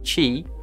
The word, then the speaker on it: Qi: and a compatible phone Qi pronounced Qi from the Chinese word meaning energy flow is the latest and